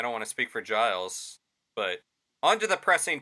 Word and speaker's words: Giles: of giles cory yes is that how you pronounce it giles yes okay i was reading it as gill nope okay that way i